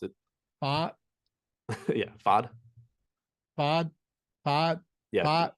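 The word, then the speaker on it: Pfaadt: pronounce it uh yeah fod fod yeah if you ignore the p and the T it sounds less weird yeah which is tough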